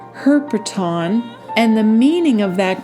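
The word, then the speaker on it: ἑρπετόν: That Greek word in the Hebrew lexicon is pronounced herpeton, and the meaning of that Greek word is a serpent, a reptile, a small animal creeping thing, and to marine animals.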